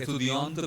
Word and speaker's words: étudiante: We are saying étudiante because T is followed by E. So T will have to be voiced and S will be ignored.